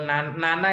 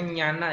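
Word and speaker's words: ñāṇa: Pubeni Wasa Nusati Nyana, atau Nana itu nanti sebenarnya dibacanya Nyana ya.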